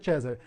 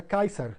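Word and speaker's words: Caesar: em latim eclesiástico seria César. Eles começaram a observar nos muros, escrito incorretamente essa palavra, e descobriram que a pronúncia, provavelmente a pronúncia original do latim na antiguidade, era Kaiser.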